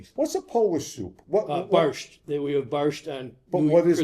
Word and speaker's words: borscht: Barsht. Barsht? Barsht. Spell that.